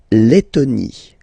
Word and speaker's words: Lettonie: So remember when you've got this E and then a double letter like that, T, okay, then you will have to open your E and it will become E, le, Lettonie. La Lettonie.